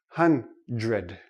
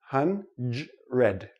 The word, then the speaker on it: hundred: ok another one is dr dr also doesn't really sound like dr we don't say hunt read ok it's too difficult for the tongue to make the quick switch so this sounds like JR hundred hundred hundred now this goes with